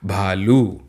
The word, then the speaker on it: भालू: नहीं है तो हम इसे भालू ऐसा नहीं कहेंगे हम एल में जो यू की मात्रा है उसको थोड़ा लंबा उच्चरित करेंगे और कहेंगे भालू है ना क्या कहेंगे